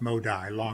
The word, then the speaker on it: Modi: I am Modi. It's pronounced Modi.